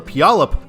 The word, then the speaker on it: Puyallup: 512 east for Puyallup was requested by Stealthy Noctowl.